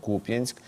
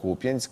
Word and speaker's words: Куп'янськ: Ще одна характерна ознака - це фейкові військові неправильно ставлять наголос у слові Куп'янськ. Замість Куп'янськ кажуть Куп'янськ в Центрі протидії дезінформації запевняє, що заяви про нібито повне оточення Куп'янська російськими військовими не відповідають дійсності.